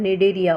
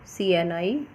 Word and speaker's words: Cnidaria: It is known as phylum Cnidaria also, Cnidaria. C is silent here.